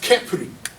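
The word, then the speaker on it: Khepri: So now this one right here, its name is pronounced Kepri.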